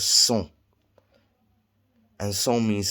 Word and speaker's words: sont: And the T is silent. It's like sont. It looks like it should be saying sont. But no, that's not the way it's pronounced. It's sont.